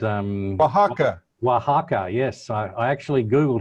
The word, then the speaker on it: Oaxaca: there's this place here called uh called um oaxaca oaxaca yes i actually googled how to pronounce it i've been so embarrassed but i'm right down the hall well anyway anyway wahaka and and uh and these farmers that are